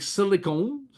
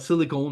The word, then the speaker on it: silicone: One of the biggest application of Fumed Silica, okay, is to make silicone. And now I'm saying it correctly. The Anglos that keep correcting me. I'm talking about silicone, not silicon, silicone.